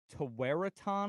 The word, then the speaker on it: Tewaaraton: The Tawaraton Award. Tawaraton. It's Is it like a Native American name? Yeah, it's Okay. Tewaaraton.